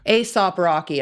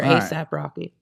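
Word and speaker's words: A$AP Rocky: I assume you say it ASAP. But it's spelled with a $. Aesop Rocky, I think is what they say. Or ASAP Rocky.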